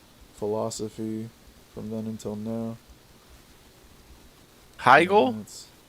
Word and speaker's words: Hegel: from then until now Heigl yeah Heigl Hegel I call him Hegel he had no it's the German pronunciation I think it has an i in there no it's just h-e-g-e-l oh then maybe it is Hegel the inventor of Pagel